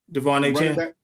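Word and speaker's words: De'Von Achane: Devon A. Chan.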